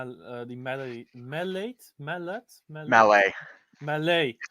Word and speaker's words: Mallet: the melody mellate mallet malay french name oh you don't pronounce the t okay look motherf yeah